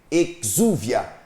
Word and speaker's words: exúvia: assim ó e exúvia se escreve exúvia mas se lê e juvia é o nome que